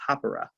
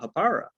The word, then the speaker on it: Hapara: zealand and i guess the way they pronounce it is hapara right i've never heard anyone say that that's that's how they pronounce it new zealand i think that's the appropriate way but americans we all call it hapara so anyways that's what